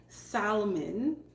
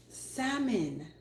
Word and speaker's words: salmon: Canadian people say salmon some people say Salamon it's salmon let's take away the L okay salmon Salon not salmon let's